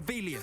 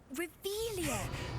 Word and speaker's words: Revelio: You're Revelius. saying it wrong. Ugh, Revelia.